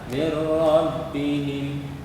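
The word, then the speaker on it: مِّن رَّبِّهِمْ: Salah bacanya itu. Yang benar adalah anak-anakku semuanya adalah mir rabbihim.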